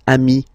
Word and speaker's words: amis: Okay, but then technically you pronounce it the same way. So singular form, ami. Plural form, you add this S, but it's ami as well.